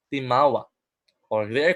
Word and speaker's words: Timawa: Now Timawa, pronounced as Timawa, or they are called in English freemen.